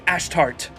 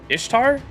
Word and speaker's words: Ashtart: fear and desire as I am ashtart Ash tart not Ishtar it Ishtar no my name is nothing like that that one just screams